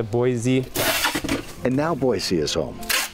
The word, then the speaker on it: Boise: uh she said it was okay it's a boise oh okay i pronounce it right boise and now boise is home where he is